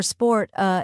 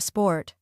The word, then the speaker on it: sport: worka instead of work or sport uh instead of sport yeah this happens because